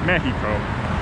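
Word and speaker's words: México: And I keep pronouncing the X, it's Ciudad de Mexico.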